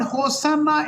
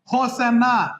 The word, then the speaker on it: Hosanna: लेकिन इब्रानी में सच में कैसे उच्चारण होता है? Ho Shana.